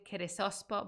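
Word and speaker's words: Kərəsāspa: avistan hero called um there's like multiple ways of pronouncing his name I'm gonna go with kirisospo because our friend and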